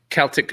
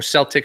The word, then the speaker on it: Celtic: u16 girls won by the celtic or celtic however you want to pronounce it barbarians rfc uh